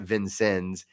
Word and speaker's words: Vincennes: We pronounce it Vincennes.